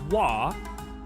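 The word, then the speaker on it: は: Despite being pronounced as wah, the ha particle is used.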